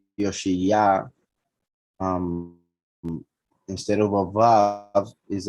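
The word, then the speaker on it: יאשיהו: Interestingly enough, as you can see, even though it is pronounced Yoshiyah, instead of a vav is a letter aleph,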